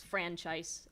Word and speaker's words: franchise: that went on strike franchise and on strike don't rhyme because it's franchise on strike it it it's uh again strong syllable first it's one of those